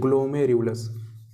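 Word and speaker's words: glomerulus: है, इसको बोलते हैं हम ग्लोमेरुलस, ठीक है, प्रोनाउंसिएशन करना बेटा आप जरूर सीख लेंगे, इसको हम बोलते हैं ग्लोमेरुलस, इसको हम बोलते हैं ग्लोमेरुलस, ठीक है।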